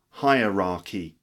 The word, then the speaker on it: hierarchy: a business hierarchy okay higher higher like higher or lower higher raah hierarchy for example there's a